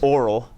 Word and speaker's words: aural: You pronounce this Aural and Kinesthetic, and obviously that's visual.